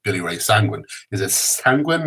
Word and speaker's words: Sanguine: And then there's words like sanguine, like Billy Ray Sanguine. Is it sanguine? Is it sanguine? Is it sanguini? Sanguine.